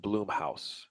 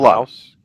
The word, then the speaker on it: Blumhouse: You know, what's funny is I keep saying Bloomhouse. I keep I saying know. Bloom, Bloom, as opposed to Blum. Blumhouse. Yes, I think it's actually pronounced Blum.